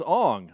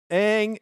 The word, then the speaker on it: Aang: the art and said this is how you pronounce Aang and Saka and they're like oh my name is Ong and Soca ah no that's not right and and I know